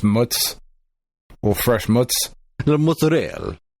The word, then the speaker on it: mozzarella: Pronounced mutz. Well, fresh mutz. The mozzarella. I'm American, goddammit. I bastardize the words that I say. That's right. Some fresh mozz.